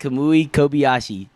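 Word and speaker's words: Kamui Kobayashi: your legal team on me he has wrecked kamui kobashi said it right you ow ow I mean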